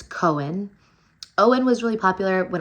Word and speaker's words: Cohen: I think it's really, I like how it's spelled. I like that there's a silent H in it. And I love that it's two syllables and that it is